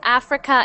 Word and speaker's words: Africa: So when you make that R sound, when we pronounce Africa in English, we say the R like this.